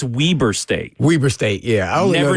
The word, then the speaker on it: Weber State: And I called it Weber State.